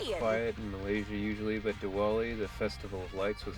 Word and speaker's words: Diwali: But I guess maybe it's pronounced with the V, Diwali.